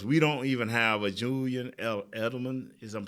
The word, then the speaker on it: Edelman: Because we don't even have a Julian Edelman, is I'm pronouncing that right?